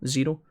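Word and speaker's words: Xero: It's spelt Zero with an X. X-E-R-O. Zero.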